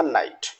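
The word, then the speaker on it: knight: बोलना है, राइट, knob, knock, knickers, नकल, अ नाइट। यहाँ हमको के लेटर को साइलेंट रखना है और वर्ड्स को प्रोनाउंसिएशन करना है।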